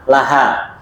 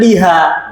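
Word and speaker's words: لها: pakainya la Laha Loh kenapa kok bukan Liha gitu ya sama seperti Li gitu ya untuk Li ya untuk Li asal membacanya Li asalnya ya ini faedah baru bisa diingat asalnya bacanya Li ya kecuali bersambung dengan kata ganti maka bacanya la ya tadi kan gitu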